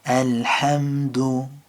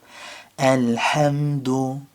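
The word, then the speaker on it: الحمد: So remember to take a breath and figure out where the ha comes from. Ha, ha. And figure out which part of your throat that is. So al-ham, ham. And then taking it like that, taking it syllable by syllable and working through it. Alhamdu. Again with the dal, just noticing where the tongue goes.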